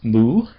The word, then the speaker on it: mu: It's called moo. Soapa lambda moo. Eotappa lambda moo. lamb mu. Let's go ahead and pronounce some words.